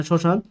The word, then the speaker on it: শ্মশান: একইভাবে শ্মশান, দেখেন শ্মশান যেহেতু তালব্যস্যের সাথে ম যুক্ত ছিল, এই ময়ের পরিবর্তে আমাদের একটা কি আসছে? জাস্ট একটা চন্দ্রবিন্দু আসছে।